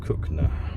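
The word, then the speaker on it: Cogenhoe: goes over to cookner spelled kogan hoe but pronounced cook now to beware the Aster's Audi is going yeah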